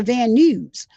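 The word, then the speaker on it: Van Nuys: Oh, it's it's I I never realized that is pronounced news to van news.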